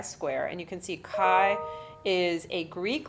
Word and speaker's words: chi: And you can see kai is a Greek letter and it looks kind of like a fancy x and it's squared. And that is the pronounced it's spelled ch hi but it's pronounced kai.